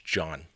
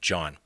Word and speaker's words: Jean: John I believe it's John could be Gene but I believe it's pronounced John anyway he was an